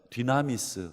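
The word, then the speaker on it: δύναμις: 여러분 이 능력이라는 단어가 헬라어로 디나미스란데, 디나미스 좀 발음이 어렵지만 여러분 비슷한 발음이 여러분 성경에 영어에도 있습니다. 디나미스, 다이나마이트. 이 단어가 이 단어에서 온 단어입니다.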